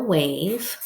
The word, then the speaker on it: wave: So spell wave. Ave. Now I hear a long A. So to get the long A, we need the silent E.